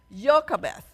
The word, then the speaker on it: Jochebed: Jochebed. Okay. So I'm sure it's spelled wrongly somehow, but that's her name, Jochebed.